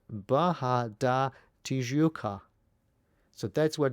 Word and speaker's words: Barra: And quite often people ask me what does the word Baja mean and why do you pronounce it with Baja rather than barra.